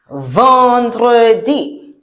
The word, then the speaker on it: vendredi: So, EN in French sounds un. That is why we don't say vendredi, but we say what? Vendredi.